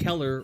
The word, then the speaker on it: Keller: have great stuff and Keller rhymes with killer almost because they are a